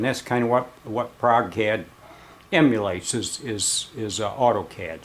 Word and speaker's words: ProgeCAD: program that's called a Prague CAD p r o g I guess that's how you to pronounce it Prague Prague cat anyway man I can't